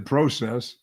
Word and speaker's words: process: Oh, I didn't say the process. I generally say the process. You say it wrong because there's no AH in there. It's PROCESS.